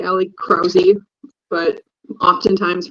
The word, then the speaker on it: Krause: I can I can uh Ali Ali crowy but oftentimes pronounced Ali kuss so we just go with the Ali